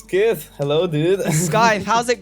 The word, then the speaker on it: Skyth: It's Skyth. Hello, dude. Skyth, how's it going? Yo, hello, Skyth or hello, Skyth? hello. It is Skyth.